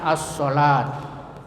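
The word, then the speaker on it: الصلاة: Contohnya as-salat. Ya, as-salat. Cara membacanya dengan mengidghamkan atau mentasdidkan pada huruf syamsiyah ya, sehingga alif lamnya tidak terbaca lagi meskipun tulisannya tetap ada. Jadi alif lamnya itu tidak terbaca walaupun ada tertulis seperti as-salat.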